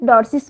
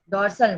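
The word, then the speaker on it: dorsi: डॉर्सी, डॉर्सल नहीं, डॉर्सी, ठीक है।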